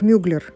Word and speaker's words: Mugler: им кстати в английском в английском варианте он произносится как Мюллер Мы привыкли называть вину Клер но в Америке его фамилию произносят как ударение на другой слог но это не важно